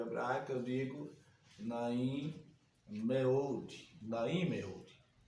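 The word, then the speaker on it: נעים מאוד: Professor, por que o senhor está pronunciando Naim Meud em vez de Naim Meod? Porque geralmente o Roland pode ser O, só que O, tá certo? É mais aceitável pelos tradutores, ok?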